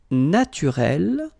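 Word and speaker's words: naturelle: Naturel, naturel. So here you can see that we write them differently, but then phonetically they are the same. Listen, naturel, naturel. Okay, same way of saying them.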